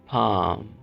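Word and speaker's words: palm: अब इस लफ्ज़ में भी हमने एल की आवाज़ को साइलेंट करना है। पाम।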